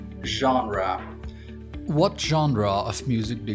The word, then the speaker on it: genre: Today, we'll cover five useful words with their accurate pronunciation, synonyms, and practical examples. First, genre. genre genre What genre of music do you like?